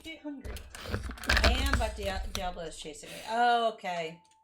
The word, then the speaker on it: Diablo: It's pronounced Diablo.